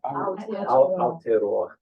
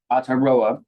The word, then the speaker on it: Aotearoa: How do you pronounce? Is it Aotearoa? Aotearoa. Aotearoa.